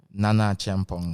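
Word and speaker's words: Nana Acheampong: Nana Champong. Nana Chong. Absolutely correct. I got I got the pronunciation so correct.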